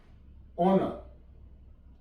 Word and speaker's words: honour: HONOUR, ऑनर, ऑनर, यहां पे भी आर साइलेंट है।